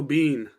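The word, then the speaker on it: Biehn: Michael Bean. Michael B. It's a bean. It is a bean. Sean Bean's So, yeah, dog. But it's spelled wrong. It's B-I like E-H-N.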